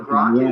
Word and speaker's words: Grok: How do you how do you pronounce the So Grock is actually if you read uh Robert Heinline's Stranger in a Strange Land.